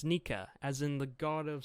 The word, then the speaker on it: Nika: quiet smile and then the sound effects is pronounced nica so it's nika as in the god of sun or back